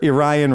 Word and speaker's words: Orion: If I were Orion Racing, I would literally have on the front page of my website Not Aryan. pronounced Orion Racing.